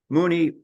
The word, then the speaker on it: Moonie: Moonie rhymes with loony, if you know about Looney Tunes.